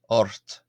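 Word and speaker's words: ocht: So imagine it was spelled o r t but it's spelled o c ht. So or it oort or those of you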